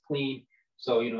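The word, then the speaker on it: Klen: of clean it's spelled k-l-e-n people think it's pronounced clam but it's clean so you know it's a great product you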